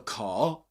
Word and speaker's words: car: Boggis stopped the car the car. Car is not pronounced, I mean, he doesn't pronounce the letter R at the end because it's immediately followed by silence, okay, by a pause.